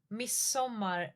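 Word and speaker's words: midsommar: Uh maybe not all over Sweden but miss summer like even dropping the D completely miss summer with just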